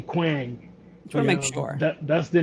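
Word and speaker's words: Kwang: What's the proper pronunciation of this name? Quang. Quang. K W A N G. Quang.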